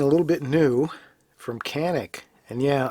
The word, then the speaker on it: Canik: And yeah, I've given up pronouncing it Janik, although I think that is correct. But since in their own commercials and advertisements, they're saying Canik, I'm going to give in and say Canik.